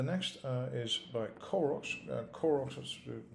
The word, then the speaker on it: Qorox: uh is by koros koroks by the way is spelled q-o-r-o-x that's using a c